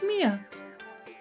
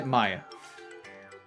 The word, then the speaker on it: Maya: My name's Mia. Or, my name's Maya. Maya? Mia? Maya? I say Maya.